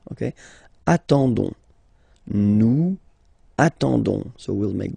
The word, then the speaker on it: attendons: and then we've got the classic ending for nous, so O-N-S, okay, you don't pronounce the S, so you get only this on sound, okay. Attendons, nous attendons, so we'll make the link between the two, la liaison.